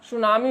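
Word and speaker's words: tsunami: 30 से जब क्रिकेट यहां साइलेंट होता है और इसका उच्चारण यहां सुनामी होता है thuan47 कम नहीं बल्कि इसका उच्चारण सुनामी है और इसका मतलब होता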